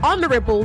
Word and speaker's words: honorable: also H is Sil So when you say honor and you say honorable the H remains silent honorable honest poverty not